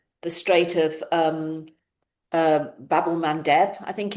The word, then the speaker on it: Bab-el-Mandeb: got the uh the Strait of um um Bab-el-Mandeb, I think it's pronounced. Babel Bab-el-Mandeb, um which is the critical route to get to the Suez Canal.